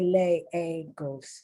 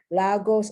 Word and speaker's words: Lagos: sorry gabriel papaya lagos some people say lay a ghost so just letting you know lagos or lagos iraqi you see that